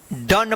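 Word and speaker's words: done: डन पढ़ेंगे।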